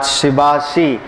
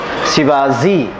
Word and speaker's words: Shibashi: Let's come to this part, Shibashi, or as the Chinese pronunciation is, Shibazi.